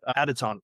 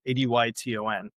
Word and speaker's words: Adyton: Okay, so how do you pronounce it? Adyton, Adyton.